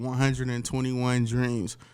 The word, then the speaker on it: 121 Dreams: The business is called 121 Dreams, pronounced exactly like that.